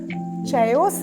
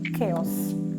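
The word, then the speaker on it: chaos: എ ഒ എസ് ഇത് ചയോസ് അല്ല കെയോസ് കെയോസ് കെയോസ് കെ കെ ആദ്യത്തെ സിലബിൾ ആണ് കൂടുതൽ സ്ട്രെസ്സ് ചെയ്യേണ്ടത് കെയോസ് ഇതിന്റെ മലയാളം സ്ട്രെസ്സ്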